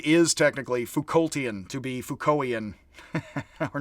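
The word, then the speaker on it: Foucauldian: technically Foucaultian, to be Foucaultian. Or not. We could use either, honestly, but it is academic practice to actually drop the T in the English. Like the Brits say Sartre, weirdly.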